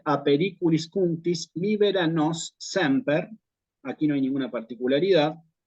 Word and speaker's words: semper: Quizás prestar atención a la palabra bisílaba semper, porque es bisílaba, palabra bisílaba, siempre va acentuada en la penúltima, no hay acentuación aguda en latín, ¿sí?